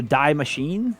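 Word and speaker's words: Die Maschine: probably the girl so welcome to dye machine is how you pronounce it taking place in the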